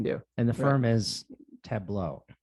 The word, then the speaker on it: Tableaux: And the firm is Tableaux. Correct. Tableaux.